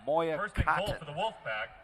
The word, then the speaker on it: Moya: Moya m-o-y-a-dash cotton c-o-t-t-o-n so it's a Moya is what you're hearing us pronounce 853 remaining in this